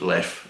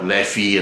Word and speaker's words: Leffe: side of belgium and it's pronounced left in french it's brian's left are